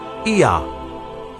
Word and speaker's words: Ea: And the third god was called Ea, which is pronounced Ea, and it became Yah, and Yah became Yahweh.